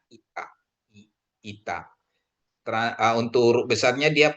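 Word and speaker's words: Ήτα: Jadi ingat ITA ini I bukan E gitu ya. Memang dalam umumnya di kita itu ETA gitu sebutnya ya, tapi bacanya ITA.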